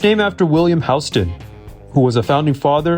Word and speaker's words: Houston: Soho is short for south of Hston Street. Yes, that's how it's pronounced, not like Houston, Texas.